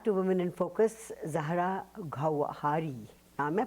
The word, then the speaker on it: Gawhari: Zahra Gawhari. Am I pronouncing it right? Yes, Gawhari.